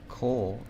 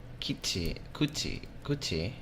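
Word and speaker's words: 口: Anyways, remember that whenever you see Ko, think Koichi. Okay. Although kuchi is mouth too.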